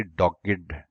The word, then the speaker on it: dogged: इस डॉग्ड के ऊपर आप मुमकिन है एतराज करें प्रोनाउंसिएशन के ऊपर। जैसे हम लर्नेड प्रोनाउंस करते हैं, इसी तरह कुछ एडजेक्टिव्स हैं, कुछ third form of the verb past participle ऐसे हैं जिन्हें जब एडजेक्टिव के तौर पर इस्तेमाल करते हैं तो लर्नेड के तरीके पर इस्तेमाल करते हैं। देयरफॉर यहां पर ये डॉग्ड प्रोनाउंस किया जाएगा।